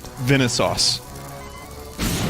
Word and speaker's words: Vinesauce: where's my key ah how am I supposed to pronounce Venice sauce just like that just like I said it now Venice its Venice